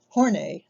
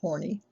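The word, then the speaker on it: Horney: carl young shown pictured on town magazine karen hornay no it's not pronounced horny though with the last name spell like that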